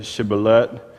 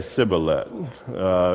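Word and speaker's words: shibboleth: to him then say Sheba let and he would say Sibley it's a direct transliteration from the Hebrew in other words they couldn't pronounce the SH they would just say it with the S it's actually two different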